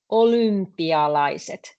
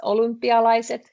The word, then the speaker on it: olympialaiset: When a Finnish person says olympialaiset, because it's quite difficult for us to say o and y in same word. So when we actually pronounce this, olympialaiset, this y easily starts sounding like u.